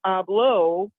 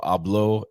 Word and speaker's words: hablo: speak Spanish, it's no hablo español. No, and you can't say the H. Why is there an Don't H there if we're pronounce not going to the say it? No hablo español.